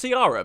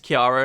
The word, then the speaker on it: Kiara: that's Scarlet's original name I've always pronounced it as carara because that's how I read it but apparently it's Kiara and now this is